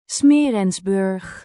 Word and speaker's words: Smeerensburg: ¿Cómo se pronuncia esto? Smeerensburg.